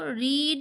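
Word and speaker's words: read: Follow রিড আর distributed. Follow মানে কাউকে ধাওয়া করে যাওয়া। রিড মানে তো জানোই সবাই পড়া।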